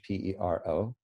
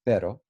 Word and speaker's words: pero: roll your r's so if you're just saying the word but you know which is pero in spanish p-e-r-o then you just flap your r pero pero but if you're saying